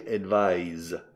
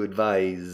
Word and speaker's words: advise: Se pronuncia advise, que es aconsejar, asesorar. To advise.